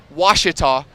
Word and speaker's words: Ouachita: that shout out uh just a bit of a you know critique Reese it's it's it's wasita but you know with